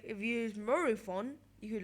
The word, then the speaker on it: Morophon: Also, Morophon. And you're going, wait, what? Morophon?